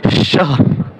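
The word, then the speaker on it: شهر: শাহর শাহর শাহর উচ্চারণটা কিরকম? শাহর।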